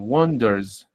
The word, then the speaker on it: wonders: Wonders. ¿S o Z? Did you hear an S or a Z? Wonders. Wonders. Es una Z.